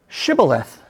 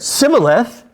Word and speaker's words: Shibboleth: If he said no, they said to him, say, Shibboleth. If he said Sibboleth and cannot pronounce the word correctly, they grabbed him and executed him right there at the fords of the Jordan.